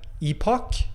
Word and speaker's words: epoch: you're saying epic yeah i mean it's epoch epoch is a different way to say it but i think epic is also a valid pronunciation uh everywhere in read